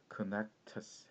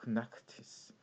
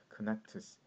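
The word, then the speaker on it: Knechtges: Connectus 해서 여기서 G가 묵음이 되는 겁니다. 그죠? 굉장히 특이한 성인데 독일계라고 합니다. 그래서 실제로 이 선생님하고 친한 분 중에서 독일어를 아시는 분은 Connectus라고 안 하고 Connectus 하고 H도 넣어가지고 발음을 하시더라고요. 그런데 이제 알려진 이름은 이겁니다. 알려진 발음은 Connectus 이렇게 되어 있습니다.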